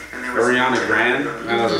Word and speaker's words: Grande: Yeah, I think I heard her say one time that everybody pronounces her last name Grande wrong, but she just goes along with it. That it's supposed to be like Grand. Ariana Grande?